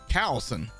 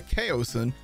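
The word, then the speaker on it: Kaoson: not how you say this should be the cowson no no it's a chaosin because it's named after the lead weapon designer Grant KO and that's how he pronounces his last name so it's the chaosin now you know knowing's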